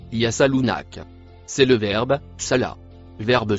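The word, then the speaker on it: يسألونك: Le mot en bleu se prononce yasalunak.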